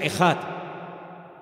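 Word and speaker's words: אחד: Y esa palabra, el Señor nuestro Dios es uno, es una palabra que se pronuncia ejad.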